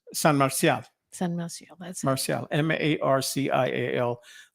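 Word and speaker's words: Marcial: with an m San Marcia Marcel m-a-r-c-i-a-l they all pronounce it Marshall Marshall right but it's Marcia that's his Spanish name okay so yeah um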